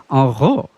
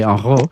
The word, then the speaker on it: Henrot: And so I was, that's the French pronunciation, correct? Henrot. Yeah. What would the American pronunciation be for folks? Usually I get Henrot, if people aren't paying attention. My last name is not French, even though it's very French to hear that pronounced with a French accent.